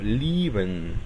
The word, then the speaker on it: lieben: Si una letra E es seguida de una I, entonces la E no se pronuncia y en cambio el sonido de la I se alarga. Por ejemplo, el verbo amar o querer, lieben. Noten cómo no estoy diciendo ni lieben ni lieben, digo lieben.